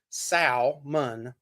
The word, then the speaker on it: salmon: it was salmon okay there's an Al in it like Sal salmon but they said the El Solomon I don't know and when I actually looked it up in the uh the correct way to say it you're not supposed to put the hell in there you really aren't I